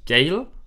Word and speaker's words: Gale: Gale wird geschrieben Gale. Also er heißt Gale, wird das ausgesprochen. Also G-A-I-L. Gale wird er ausgesprochen.